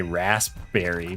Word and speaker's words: raspberry: I mean, you're not entirely wrong if you say raspberry, but yeah, that's pretty silent. I feel like in that case, though, the P isn't entirely silent.